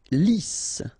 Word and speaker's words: lisse: Lisse, double S here, so it's really a strong S, lisse. Okay, don't insist on the final E. Lisse.